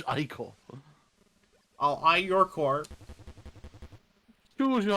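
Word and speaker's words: ichor: That's pronounced eyecore. I did I know I did it wrong the first time, but please please please he's saying it right there. Creature. It's eyecore.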